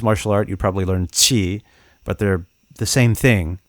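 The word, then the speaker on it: 气: I'm sorry, I don't have the tones, but qi. It sounds a lot like ch, but it's like. It's like a different part of the tongue that hits the palate.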